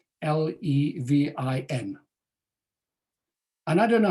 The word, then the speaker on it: Levin: it i don't know whether to pronounce it as levin or levine because i don't even know how to pronounce my own surname in this country we're 11 back in south africa we're levine but strictly speaking grammatically